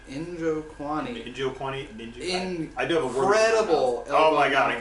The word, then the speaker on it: Njokuani: Chidi, how do you pronounce this last name? Njokuani.